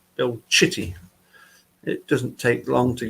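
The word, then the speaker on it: Citty: to say it but in Italian the single letter C as opposed to the double C is it's pronounced differently so the double letter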